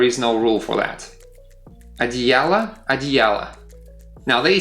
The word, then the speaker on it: одеяло: It happens because that last o, in the singular form, it is unstressed, so we pronounce it as a.